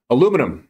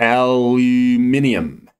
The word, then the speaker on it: aluminium: Aluminum or aluminium. Depending where you're from and how you say it, here's the top portion, broke to the upside.